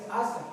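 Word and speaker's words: עזה: Gaza, la palabra hebrea es asa, y significa fortaleza. Y desamparada, la palabra hebrea es azuba. Entonces pronuncien asa, azuba.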